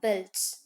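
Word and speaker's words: veld: is that wells okay should not say pronounce d too strongly you should say belts okay so in australia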